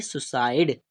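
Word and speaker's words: suicide: तो यहाँ पर हमने सी से क्या बनाया, सा। ई से हमारा ई, आई से हमारा ई, और ई हमारा ई जो दिया है वो क्या रहेगा, साइलेंट, और डी से हमारा डी। तो इसे हम क्या पढ़ेंगे, सुसाइड।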